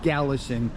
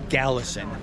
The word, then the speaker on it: Kalasin: Here is the property office in the city or village of Galison. And by the way, it's spelled with a K, K-A-L-A-S-I-N, but it is pronounced with a G, Galison.